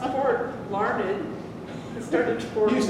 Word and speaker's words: Larned: Okay, how do you pronounce N-E-D? Larned. N-E-D, it's pronounced Ned. Ned. Yes. Okay, it's pronounced Ned, not nerd, you nerd.